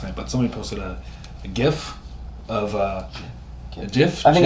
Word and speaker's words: GIF: The guy that created the graphic interchange format says it's actually GIF, but the thing is, he's like I'll always pronounce it as GIF. But either pronunciation is acceptable.